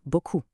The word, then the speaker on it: beaucoup: A tiny, slight mispronunciation of the "ou" sound at the end turns "beaucoup" into "beau cul".